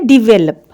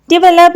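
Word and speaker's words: develop: डिवेलप या डेवलप हम इसको पढ़ते हैं, जो बिल्कुल गलत प्रोनाउंसिएशन है। इसमें वे पे ज़रा साउंड जो है वो डिफरेंट हो जाती है और लप पे ज़्यादा स्ट्रेस है।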